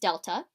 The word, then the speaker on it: Delta: this triangle x thing that triangle is pronounced Delta it just means change